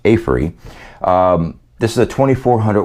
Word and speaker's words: Aferiy: now teamed up with afre or it's pronounced afree um this is a